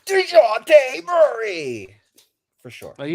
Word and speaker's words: Dejounte: Well, because I don't pronounce the J. It's DeJounte.